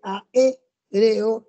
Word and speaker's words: aéreo: Fíjate bien que aéreo tiene el acento en la E, ¿no?